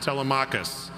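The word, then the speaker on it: Telemachus: A saint called Tmicus or sometimes pronounced Telmachus.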